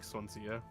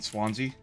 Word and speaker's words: Swansea: what yeah he knew exactly how to drug sansia mean Swansea is that how do you pronounce that yeah Swansea Swansea ohia yeah I